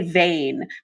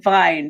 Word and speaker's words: Wein: I wish they'd say Vein, because then, rather than Vine, because at least then I could pretend it was Harriet Vane, my favorite Dorothy Sayers character.